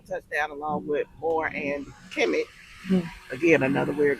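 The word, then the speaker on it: Kmet: along with Mo and Keesh. Again, another weird name. K-Met. That's how it's spelled. Keesh, whatever. Anyway, they all watch the K be silent. Yeah, I know, right? It just be met.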